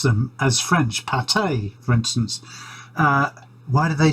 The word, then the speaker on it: pâté: The Frenchicization of words, or actually just they are just French, and we pronounce them as French. Pâté, for instance.